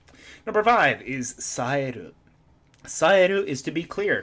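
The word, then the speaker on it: 冴える: Go. Ko are our alternate pronunciations, or saeru, our intransitive verb for being clear, alert, or skillful.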